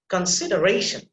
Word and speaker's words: consideration: So you see, Consideration. yeah, secondary syllable, you have to put a little bit of stress there. Consideration. Consideration. Consideration. consideration. You see, ration, ra sound that is emphasized.